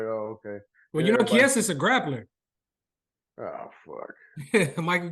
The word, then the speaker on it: Chiesa: Chiesa. That's how you say it, Chiesa. Mm-hmm. Fiesta. Fiesta.